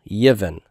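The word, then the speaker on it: יִבֶן: I could do one of 2 things. I could leave the silent shava there, Yiv, if it's a consonant cluster that's easy to pronounce like that, or I can insert a helping vowel, and the helping vowel that's inserted is the segol, Yivin.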